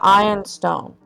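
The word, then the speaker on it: Ioun stone: Can I try and hide the ion stone?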